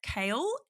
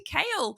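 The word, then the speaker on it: Chaol: was Selena and CH kale how do you say his name like I'm so confused at this point I say kale kale Kale like vegetable like Nico CH but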